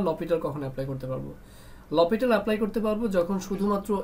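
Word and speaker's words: L'Hôpital: যেটাকে আমরা অনেক সময় স্পেলিংটা এরকম হয় এল হসপিটাল টাইপের বাট প্রোনাউন্সিয়েশনটা লপিটাল হবে আর কি লপিটাল রুলসটা তখন আমরা এপ্লাই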